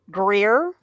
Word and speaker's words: Greer: say one more time Greer Greer are you picking up a Southern accent there girl we're going to Greer how many syllables is that is that one or two one it's just one syllable I've Greer where where